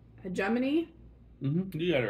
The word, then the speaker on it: Hegemony: So, and I apologize if I pronounced this name wrong again. It's Hegemony.